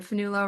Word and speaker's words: Fionnghuala: And uh my first name is spelled with 11 letters and a silent G.